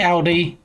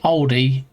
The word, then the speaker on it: Aldi: See, some say Audi like me. Some say Aldi, but yeah, Aldi. Not Not the car manufacturer.